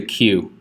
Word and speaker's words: queue: This right here is known as a queue. It's one of the worst words in the English language because it's the letter Q followed by what I would describe as 4 silent letters.